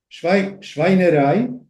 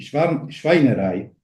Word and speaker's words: Schweinerei: Se establece otra serie de asociaciones fonéticas a través del fonema formado por el diptongo EI, que se pronuncia AI. Entonces tenemos Schweinerei, que sería porquería, pero